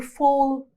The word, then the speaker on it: fall: A, which is followed by double L. يعني ال A لما يجي بعدها double L, it's pronounced as O. So, what's this? Fall or fall?